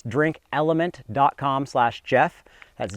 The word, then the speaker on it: LMNT: the fine folk over a element that's spelled l m NT and they make a